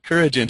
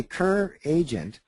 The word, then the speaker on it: Couragent: Couragent, yes. Okay. Great name. We actually say it two different ways. If you say Cur-agent occur, the derivative of that is heart.